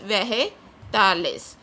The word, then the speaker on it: vegetales: Guys, J is pronounced as H when it is followed by E or I. So when it is used before E or I, G is pronounced as H in Spanish, so it is pronounced as vegetales.